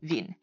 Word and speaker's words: Wien: in mind is that the W in German is pronounced like a V sound. Now, the most prominent example of this is going to be the German name of Vienna, which is Wien.